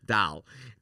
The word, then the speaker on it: doll: The most Chicago word ever that everyone makes fun of me for is the I'll spell it. It's d o ll. Oh, doll. We say it the exact same. Dal.